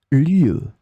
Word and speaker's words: lieue: In this lesson, we will see together two words that are written differently but pronounced the same way. Lieu, lieu.